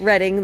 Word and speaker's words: Reading: Um we're in Morgantown, but I was explaining that reading like they see Reading Railroad on the Monopoly board. We pronounce it reading around here and that's just